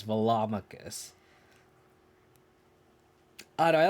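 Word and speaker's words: Velomachus: i'm i'm sorry i'm saying it wrong it's velomicus i don't know i like it's funny because i always pronounce like culture i always called claudra culture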